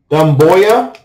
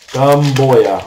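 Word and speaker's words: Doumbouya: Dumboya. Dumboya.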